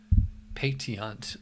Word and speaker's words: pétillant: You know, it's like pétillant. That's the French pronunciation for it.